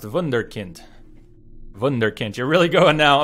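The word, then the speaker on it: Wunderkind: Pronounced vunder. Pronounced vunderkint.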